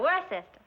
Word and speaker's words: Worcester: But it's spelled W-O-R-C-E-S-T-E-R.